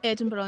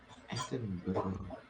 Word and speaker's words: Edinburgh: cracks me up because nobody can ever say the word Edinburgh properly. It's like Edinburgh or Edinburgh or Edinburgh. It's like no, it's none of those things. Edinburgh.